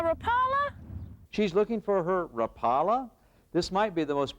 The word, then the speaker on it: Rapala: This might be the most popular lure in America, but most anglers can't pronounce it. It's Rapa, as in Lori Rapula, the Finnish man who handcarved this lure, the original one.